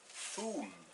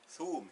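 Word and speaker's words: ثوم: Le waw et le tha et le waw qui se prononce ou, ça fait thou. Avec le m. Thoum. Thoum, qui veut dire l'ail.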